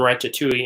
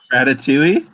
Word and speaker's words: ratatouille: When I was out there earlier this year, they had the walls, when you transition from Paris and Ratatouille into Toy Story, they had a wall built